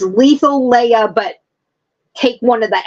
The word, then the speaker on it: Lethaleya: Yeah, it's pronounced Lethaleya. I just figured out how to pronounce it. I mean, because the Greek words are Letha, and Leia.